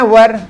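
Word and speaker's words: were: तो अगर आप भी उन लोगों में से हैं जो इसका उच्चारण वेयर करते होंगे, वर इसका प्रोनाउंसिएशन है, वर वेयर बोलते होंगे ना, तो गलत है वो।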